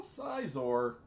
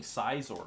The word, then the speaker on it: Scizor: it's a side aside I keep saying Scizor I think scissor is how it's pronounced right gotta go with